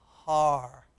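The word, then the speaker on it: הר: The hey, the huh, the ah, and the r, all together. Let's read it together. Har, har.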